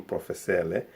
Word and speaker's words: professele: In Kiluba, generally, what I notice is that we don't really pronounce the r. It's everything goes to le, L, R replaced by L.